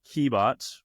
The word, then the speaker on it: Qebot: One is a company called Keybot, Qebot. I know a lot of people always wonder how you say it, what it's spelled at.